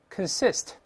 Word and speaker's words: consist: 老师多次说过，con 这个拼写在轻读时发 con，重读时发 con，在这是轻读，所以是 con，后面重读，我们再